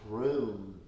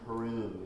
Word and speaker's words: Hrum: And here the mantra will be H-R and O-M, and it's Hrum is the sound of it. Hrum, H-R-U-M, Hrum.